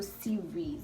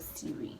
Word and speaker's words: series: i mean that's siri that's different but even pronunciation is different but so series you don't have a siri because a series is a collective noun it's